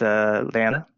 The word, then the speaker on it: lambda: And this multiple here, and so this is a Greek letter, which is pronounced lambda.